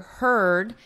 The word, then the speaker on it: heard: Now they're saying the herd right here, herd, is the same vowel as bird, it's that sound. Remember, it's that in her.